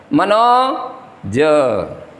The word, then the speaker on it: मनोज: उदाहरण के लिए हम बोल रहे हैं मनोज, तो ये माना गया है मनोज, ये देखो मनो अलग ज अलग, ये मानक उच्चारण नहीं हुआ है।